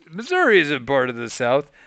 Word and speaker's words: Missouri: Yeah, my dad pronounces Missouri as if it had an A on the end of it. It drives me insane. Missouri. Missouri. Like, it Oh. ends in a fucking I.